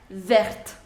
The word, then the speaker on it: vert: say ver version s pronunciation will not change so this and this pronunciation would be same ver ver vert vert okay now fourth is